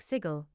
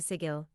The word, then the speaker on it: Sigil: sigle in eons remember beroot it's pronounced like sigle rhymes with Giggle and W be the Burke who mistakenly mispronounces it in front of the Gunner welcome to sigil city of doors most of them are locked